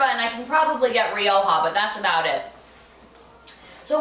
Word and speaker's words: Rioja: some of that pronunciation i don't know how many times i've heard people you know ryoya or yeah ryokan yeah real real